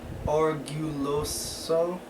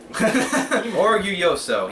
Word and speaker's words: Orgulloso: The suggestion is from Marino Orguloso. Sorry. Orgulloso. He even put the pronunciation there for us. Orgulloso.